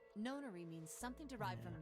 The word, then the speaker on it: nonary: Weird. I've never heard it pronounced known. I've always heard it pronounced non. That's why I thought it was nonary game.